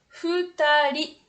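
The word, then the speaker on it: 二人: Avec le kanji 2, ça se prononce futari.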